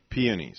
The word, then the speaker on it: peonies: carnations or i hope i say this right peonies is that how you say it linda yeah peonies okay says that you're a traditional person who